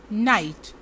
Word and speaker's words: knight: KNIGHT, इसमें जो K है इसका उच्चारण नहीं होगा और हम इसको प्रोनाउंस करेंगे नाइट।